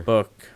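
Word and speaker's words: Bouc: oh that's books mother book right oh yeah black books yeah it's pronounced book that's right uh she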